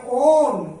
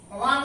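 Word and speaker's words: -one: তখন এটা আসবে ওন, ও দন্তন্য, that is ONE, ওয়ান উচ্চারণ হবে না, ইংরেজিতে যেমন ওয়ান বলে ONE, কিন্তু আমাদের এখানে উচ্চারণ হবে ওন, অর্থাৎ অপ্রধান প্রত্যয় হিসেবে পাঠ করতে হবে ওন।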